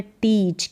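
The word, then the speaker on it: teach: यहाँ पर है टीच, क्या है, EA का उच्चारण बड़ी के रूप में और CH का उच्चारण च के रूप में।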